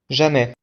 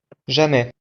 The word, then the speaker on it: jamais: Jamais. Oui, pouvez-vous répéter? Jamais.